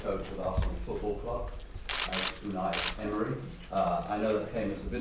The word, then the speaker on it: Unai Emery: So for the benefit of Arsenal fans all over the world, what's the correct pronunciation of your name? Unai Emery.